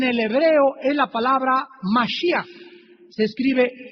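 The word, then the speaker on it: משיח: La palabra mesías en el hebreo es la palabra masí. Se escribe m a s h i y a c h. Se pronuncia mashi ych en castellano y significa Cristo.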